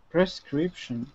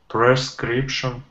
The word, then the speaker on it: prescription: So make sure no one's saying prescription, prescription. A lot of people make that mistake. Dmitry, can you pronounce it for me? Prescription. Oh, I heard per. I don't want per.